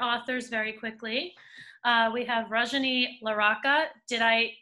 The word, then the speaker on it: Rajani LaRocca: We have Rajani LaRocca. Did I pronounce it correctly?